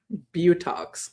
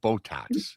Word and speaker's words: Botox: Butox, that's what I call them. I know how to pronounce them correctly.